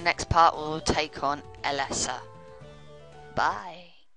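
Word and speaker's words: Elesa: Alessa they just pronounced her name as Alessa come on last roller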